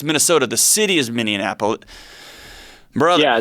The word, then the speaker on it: Minneapolis: The city is Minneapolis. Brother. Yeah, it's Minneapolis.